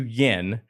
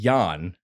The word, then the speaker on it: Jan: I tried to call you Yen, and then you said, well, it would really be Jan.